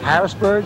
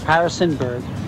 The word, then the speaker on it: Harrisonburg: from a small town they pronounce it wrong Harrisburg Harrisonburg Harrisonburg and Virginia and that